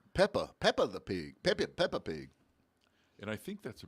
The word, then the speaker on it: Peppa Pig: Peppy Pig. Peppy Pig, am I saying it right? I think it says Peppa. Peppa the Pig. Peppa Pig.